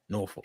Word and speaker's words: Norfolk: Yeah, that's how they say it up there, Norfolk.